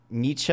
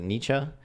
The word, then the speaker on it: Nietzsche: He said, Nietzsche, that's how you pronounce it, Nietzsche, was the one who did the job for me.